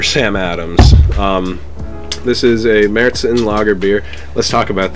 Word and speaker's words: Märzen: But it has the umlaut over the A, so that means it's pronounced like Märzen. But Americans pronounce it Marzen, and some of the